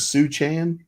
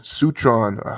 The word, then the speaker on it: Sichuan: 2008 in Because, Suchan. yes, Sichuan, how you pronounce it? Sichuan, yeah. Sichuan. SICHUAN. AUN. Yeah, AUN. Okay.